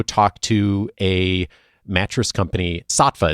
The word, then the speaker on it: Saatva: to a mattress company, Saatva. Is that how they say their names? That is, yeah. That is how they say it.